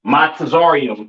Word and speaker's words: Mizraim: Uh, Mizraim, all right, aka your Egyptians, all right, pronounce Matazarium in the Hebrew, Matazarium in the Hebrew, all right.